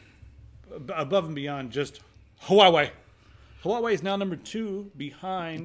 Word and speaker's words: Huawei: Huawei. It's Huawei. It's not Huawei. I don't know. I need like a mouthful of oatmeal to say it properly.